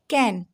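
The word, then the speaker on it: can: तो कैसे बोलेंगे इसको? कैन, कैन।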